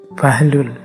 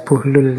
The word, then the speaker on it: Buhlul: namanya bukhlul bin Amr ini ada yang membacanya bahlul ada yang membacanya buhlul saya milih Membaca buhlul saja ya jadi beliau ini